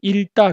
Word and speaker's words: 읽다: 우리가 읽다 할 때는 앞에 리을만 취합니다. 그래서 읽다 그래요.